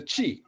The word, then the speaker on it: qi: Now, the word for chi, you heard that word chi, they associate that with Chinese medicine.